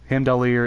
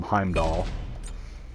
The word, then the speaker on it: Heimdallr: heimdall and and also there are two ways that you can pronounce heimdall or himdalier hendelir is how he is how he pronounces it in the game through the god but other people just call him heimdall and i think in the marvel movies people call him heimdall so whatever your preference is i'm not one